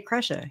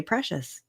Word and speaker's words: Cresa: He would never say Cresa. He would say Precious.